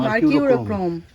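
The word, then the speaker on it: Mercurochrome: হবে এইখানে রেখে দেওয়া হয়েছে যদি পড়ে যায় মার্কিউরক্রম বলো ওই কি উচ্চারণটা মার্কিউরোক্রম মার্কিউরোক্রম আমি সকাল থেকে বলছি একটু দাও লাল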